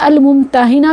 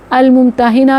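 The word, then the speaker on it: الممتحنة: لیوا ہے۔ سورہ الممتحنہ، یہ الممتحنہ بھی ہے اس کی پروننسیشن، تلفظ اس کا الممتحنہ بھی اور الممتحنہ بھی، یہ بالکل ایسے جیسے ہم نے سورہ المجادلہ پڑھی تھی، مجادلہ اور مجادلہ، بالکل ایسے ہی ہے۔ الممتحنہ اسم فاعل، امتحان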